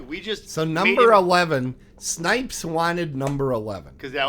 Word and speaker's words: Snipes: anyways not no it Snipes is how it's pronounced not Snopes God check your prescription